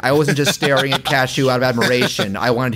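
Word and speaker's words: Kashue: this is when king cashew not spelled like the nut but pronounced like it uh who was like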